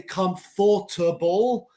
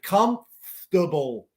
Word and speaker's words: comfortable: of commodore comfortable these this is a word where we drop a syllable we don't say comfortable we say comfortable so cortamos Como comfortable